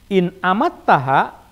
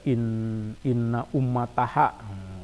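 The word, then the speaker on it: إن أماتها: In amattaha, ini bacanya hati-hati ya, jangan baca inna ummataha. Wah, nanti susah itu mengartikannya. Tulisannya sama, alif mim ta.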